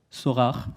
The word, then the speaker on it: Sorare: Puis deuxième exemple, Sylvain en a parlé tout à l'heure, donc Sorare, pour le prononcer à la française, avec 2 millions d'utilisateurs